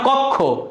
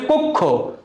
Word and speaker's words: কক্ষ: আসে বাংলায় এটা কক্ষ উচ্চারণ কি কক্ষ নট কক্ষ এটা হচ্ছে কক্ষ ঠিক আছে এইভাবে আমরা